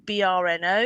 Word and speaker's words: Brno: Czechoslovakia, some of them working out of Brno, BRNO. You can look that one up. Brno, I think it's pronounced.